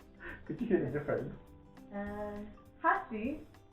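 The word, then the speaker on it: 箸: Hashi is chopsticks. Hashi is bridge. The emphasis on the second part? Yeah. Yeah, like the bridge is more neutral sounding, I would say.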